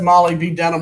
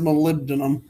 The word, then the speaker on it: molybdenum: we have that's perhaps molybdenum but everybody says Molly be denim when they read it but it's pronounced molybdenum all right so it's symbol is mm oh